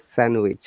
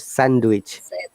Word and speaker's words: sandwich: though there are d the d is silent in both cases we don't say handsome it is handsome and it is sandwich not sandwich this is one of